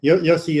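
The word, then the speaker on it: Yose: So, I mean, I never met him, so I don't know how he says it, but Yossi is the usual way we say it.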